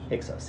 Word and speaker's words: Hyksos: Is that how you pronounce it? Hyksos? Hyksos, yeah.